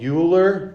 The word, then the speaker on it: Euler: one use euler's method i know it's spelled euler but it's euler okay it's a it's a german thing uh use euler's method